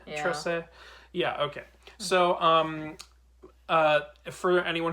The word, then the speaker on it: Trese: I'm done trying to pronounce it. That's what I think. I'm pretty sure Nuno called her Trese. Yeah. Trese.